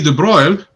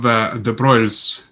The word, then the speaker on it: Broglie: Mr. Louis de Broglie, I think that's how they say it even in English. It would be weird to say it Broglie.